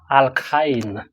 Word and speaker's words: alkyne: We have alkyne. Alk and then the ine, that you, how to pronounce the thing. You say alk and then you say ine.